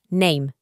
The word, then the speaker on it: name: Y a veces cuando nos encontramos con una e al final de una palabra es muda, como por ejemplo en esta palabra name. Como ves, la e no se pronuncia.